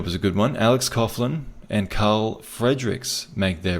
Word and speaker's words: Coughlin: Coughlin is still... Or Coughlin, actually. I think Coughlin is how you pronounce it.